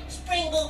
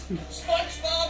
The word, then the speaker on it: SpongeBob: what's that what's that it appears I've made a slight error in pronunciation the real name of the win is SpongeBob squ oh I wonder when